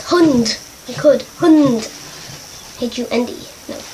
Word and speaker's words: Hund: Hund. Like hood.